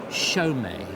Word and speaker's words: Chaumet: looked at it and it says Chaumet. Chaumet, exactly, because Chaumet were a firm of manufacturers making jewellery, particularly very fine pieces in the 30s.